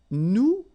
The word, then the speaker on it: nous: you remember correctly, so final S is not pronounced here. Okay, and then this O-N, so it's a nasal and it goes in your nose and it goes like on. All right, so you don't hear any N, so it's really on.